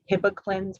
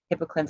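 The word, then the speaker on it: Hibiclens: to reduce the organisms also things like um hippoclins which is spelled h-i-b-i-c-l-e-n-s hippo cleans it's also called chlorhexidine gluconate but that soap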